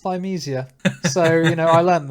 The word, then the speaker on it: Thymesia: episode on episode exactly actually pronounced thymesia so you know i